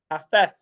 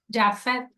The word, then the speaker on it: Jafet: And Afeth, is that how you pronounce it? Jafet, yeah. Afeth? Jafet.